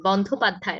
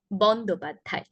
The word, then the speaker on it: বন্দ্যোপাধ্যায়: এই শব্দগুলোর ক্ষেত্রে মহাপ্রাণ এবং অল্প প্রাণটা খেয়াল রাখবেন। বন্দ্যোপাধ্যায় নয়, কি হবে? বন্দ্যোপাধ্যায়। প্রথমে অল্প প্রাণ, তারপর মহাপ্রাণ। বন্দ্যোপাধ্যায়।